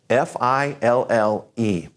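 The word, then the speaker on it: fille: all this means girl fi ll e when you end a word in French with ll e it's just kind of a you sound so fi ll e sounds like this she see you and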